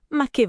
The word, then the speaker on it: ma che: Ma che vacanze, ma che dieta, ma che tranquillità. Quello che segue ma che viene spazzato via. E sentite il suono. Ma che? L'accento è tutto sulla fine, secco.